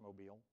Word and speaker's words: Mobile: It is pronounced Mobile. If you call it Mobile, you're wrong.